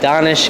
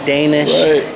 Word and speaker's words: Donish: industry what's up guys donish here that's donish rhymes with swish follow me at donish swish it's not Danes it's not Danish it's not donut boy